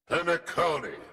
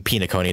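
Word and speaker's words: Phainon: uh Pon comes out panone panone right that's how that's I'm pronouncing it right I'm sorry if I've been mispronouncing pone this whole time I keep calling pone it's panone got to ingrain that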